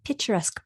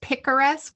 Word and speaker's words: picaresque: I had never known what a picturesque plot was. I think it's picaresque.